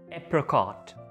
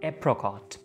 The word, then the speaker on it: apricot: अब अगर आप इस वर्ड पे देखें तो आप अक्सर लोग इसको एप्रिकॉट बोलते हैं, एप्री। Most of the people think that there is एन I between are एंड सी, सो it will be pronounced as एप्रिकॉट, but this is incorrect. The correct pronunciation for this word is apricot, apricot, apricot।